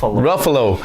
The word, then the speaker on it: Ruffalo: How do you pronounce his name? Ruffalo.